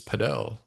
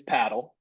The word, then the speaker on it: padel: The correct pronunciation is paddle.